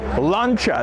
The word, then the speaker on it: Lancia: Lancia because in Italian, when you have CI next to each other like we do here, it's more of a ch sound. So we have Lancia.